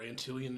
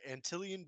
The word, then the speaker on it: Antillion: for Merch music or antillan in general where can they find it so we're basically or antillan band everywhere spelled like ant and million but like no n um and that's Twitter